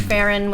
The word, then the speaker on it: Farron: There was another sketch called Fanny Baseball, in which Farron, which rhymes with Karen, was up to bat,